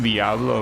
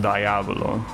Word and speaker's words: Diablo: Yeah, I know it's pronounced Diablo, but I hear Americans constantly pronounce it Diablo.